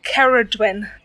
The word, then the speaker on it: Ceridwen: It's pronounced Ceridwen.